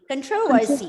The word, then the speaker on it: controversy: Okay, and then CONTROVERSY. Controversy. Controversy. Yes, don't ever pronounce this word as controversy. Okay, it's controversy. And the second syllable is stressed.